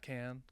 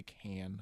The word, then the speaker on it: Cannes: I think us Westerners would say can. Yeah, okay. That's what con. I feel like I always say can. Yeah. The Cannes Film Festival.